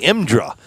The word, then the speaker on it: IMDRA: uh Rockingham Dragway imdra imdra is how they say it and then on Deck